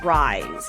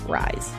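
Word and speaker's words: RIIZE: week I'm going to recommend love 119 by Rise and it's spelled r i i z e all capital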